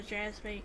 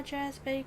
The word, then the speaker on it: Jazbay: Where are my Jazbay grapes? Pretty sure that is how they're pronounced in this game, because even the NPCs call them Jazbay grapes.